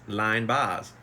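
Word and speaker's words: Linebaugh's: in downtown Nashville called Lynn Boz pronounced o-line Boz pronounced line Boz it was a place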